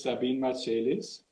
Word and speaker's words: Sabine Marcelis: And our guest today is Sabine Marcelis. How do I pronounce it right, actually?